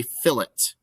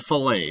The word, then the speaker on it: fillet: rounded corner that is called a fill it not a filet fillet is spelled differently this is a fillet